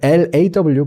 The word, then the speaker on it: law: 얘는 O와 어의 중간 소리였어요. 해서 이제 우리가 아까 했던 게 이런 게 있었죠. 낮은 low 그리고 법 낮은 low L-O-W 그리고 법 L-A-W 그리고 운 해서 L-U-C-K